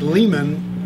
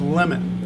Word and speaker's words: Lemann: Like Lehman, but it's pronounced Lemon.